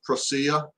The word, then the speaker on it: Prusa: I was using a Prusa, or no, it's a Prusa clone. Prusa, or I even heard it pronounced as Prusia, P-R-U-S-I-A.